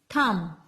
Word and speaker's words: thumb: Okay, next is thumb. So where is the thumb? Yes, here. So we write thumb here. T-H-U-M-B. So which is the silent letter here? Yes, B is silent. Thumb.